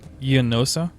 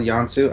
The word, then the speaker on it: Yansu: Yeah, by the way, you called Yansu Yanosa? Is that what it's called? Yansu? I always do that. I always throw extra syllables in.